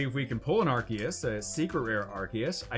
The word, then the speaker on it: Arceus: Obviously, Arceus is how you pronounce it, everybody. You've heard it here. Actually, I'm just basing that off what they said in the movies.